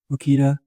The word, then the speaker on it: Makita: Like Makita. Is that how you say it? Makita.